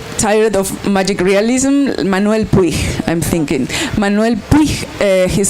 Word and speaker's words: Puig: was a bit tired of magic realism, Manuel Puig, I'm thinking. Manuel Puig, his surname is short. I can spell it for you if you want to Google him, Puig.